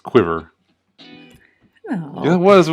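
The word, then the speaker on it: Cuivre: No, it looks like Curve, but it's pronounced Quiver.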